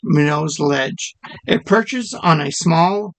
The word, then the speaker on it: Minot's Ledge: It's pronounced Minot. Minot's? Minot? Minot's Lighthouse. Minot's Ledge. Minot's Ledge.